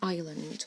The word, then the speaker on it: island: Col is a tiny island so there's arts silent s in Island call is a tiny the eye making an eye sound call is a tiny